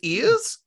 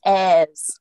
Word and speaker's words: heirs: nosferatu but he survived his ears his airs oh like air to the throne air to the throne air with a silent h so nosferatu the german